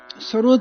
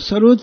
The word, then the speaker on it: सरोद: और सरोद का भी जो उच्चारण है, असली प्रोनाउंसिएशन, वो सरूद है।